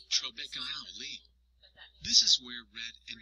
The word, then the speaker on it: trabeculae: It is made up of a mesh-like network of tiny pieces of bone called trabeculae, pronounced trabeculae.